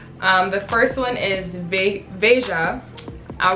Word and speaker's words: Veja: I want to say Veja so bad, but it's Veja because I was listening to a podcast with Jeff Staples and he was interviewing the founder of this company, and it's pronounced Veja.